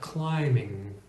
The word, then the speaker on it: climbing: function in the sentence so the B is still silent climbing let's take the word